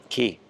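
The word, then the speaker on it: Cay: All right, so let's go take a look at the rest of the pool and the little island out here, Caribbean Key.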